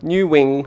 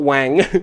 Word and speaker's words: Nguyen: Someone taught me drunk one night at a nightclub that the way to pronounce his last name was New Wing or Wang. New Wing, not Wang.